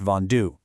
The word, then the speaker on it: vendu: And for those RE verbs, like vendre, drop the RE and replace it with a U to get vendu, pronounced vendu.